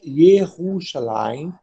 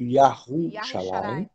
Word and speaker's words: Yahushalayim: Tomando por base essa afirmativa, isso caberia na questão do nome da cidade, que é normalmente pronunciada pelos judeus de Yerushalayim, devendo ser, na verdade, pronunciada como Yahushalayim.